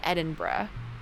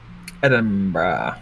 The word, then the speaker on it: Edinburgh: Every time I see it, I want to say Berg. Well, cuz it's spelled Berg. I want to say Burrow for some reason. Eden Burrow.